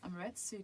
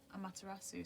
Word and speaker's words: Amaterasu: We've got Amaretsu coming in. Amaterasu, sorry I said the name wrong.